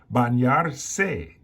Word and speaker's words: bañarse: Bañarse is a little bit different.